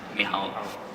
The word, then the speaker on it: Michał: Although I called him Michael for like 3 years, I didn't understand it was supposed to be pronounced Michał.